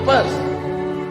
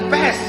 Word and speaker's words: Perth: I am going to Perth. Bukan pest, kalau pest penyakit. Perth.